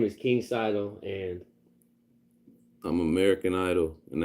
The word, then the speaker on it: Cydal: My name is King Cydal, and I'm American Idol, and that's my title. That's what I say. You know what I mean? King Cydal, like American Idol, and that's my title.